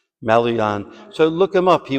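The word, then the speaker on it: Maloyan: How do you pronounce his last name? His last name. Malon.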